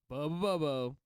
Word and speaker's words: Abobo: bobao it's Bob b no you sp it wrong it's Bobo Bobo I 100% a correct the important part is there's seven bows yeah I am 100% confident that that is the correct way to say it so uh abobo is